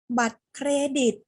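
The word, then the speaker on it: บัตรเครดิต: เป็น ทะเล ลึก เลย คำ สุด ท้าย ค่ะ ไม่ ออก เสียง รอ เรือ บัตร เครดิต บัตร เครดิต อย่า ลืม ควบ กล้ำ ตัว ร คำ ที่ 2 นะ คะ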